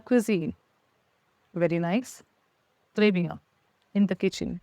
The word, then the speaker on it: cuisine: let's begin first is Kitchen in front is cuisine cuisine the cuine so first isine second word CER